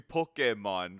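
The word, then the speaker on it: Pokémon: don't see you well there's an accent on the e yeah it's like it's supposed to be pokemon right but we we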